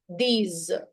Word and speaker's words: dix: And 10 is these. These. 6 and 10. Both, they rhyme in French.